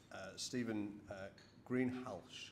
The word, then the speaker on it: Greenhalgh: So, as you probably can imagine, we did have Stephen Greenhalgh, apparently is how you pronounce it.